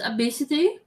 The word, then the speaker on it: ABCDE: Apparently, there is a name which is ABCDE, It's pronounced obesity.